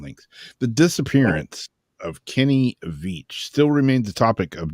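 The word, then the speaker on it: Veach: v a c h vich it's like beach with a V vich who vanished Without a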